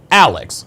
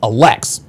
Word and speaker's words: Alex: Okay, the accent is on the first part, Alex, not Alex.